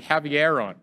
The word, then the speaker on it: Haveron: It is called the Haveron discovery, or Haveron. I was saying it wrong. Haveron.